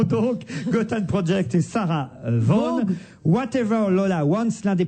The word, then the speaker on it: Vaughan: Ah, vous dites Vaughan. Oui. Oui, parce que ça s'écrit Vaughan. Non, c'est comme Somerset Maugham.